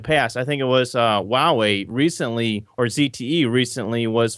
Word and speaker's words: Huawei: Huawei is how they say to pronounce it. Huawei.